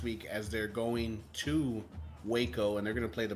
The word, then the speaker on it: Waco: match up there and it is pronounced Waco it's not pronounced wacko that is correct I